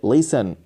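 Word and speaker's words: listen: और ये टी जो है वो साइलेंट है, इसको नहीं पढ़ेंगे, इसको पढ़ेंगे लिसन, लिसन।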